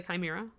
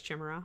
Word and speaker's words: chimera: then i realized oh this is actually pronounced with a hard k lovely so yeah since